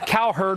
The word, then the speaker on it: Cowherd: But as a proud Southerner, I take offense at some guy whose name rhymes with cow turd trying to blame Southerners for a testosterone fuel feud between two Yankee drivers. Cowherd reveals his ignorance of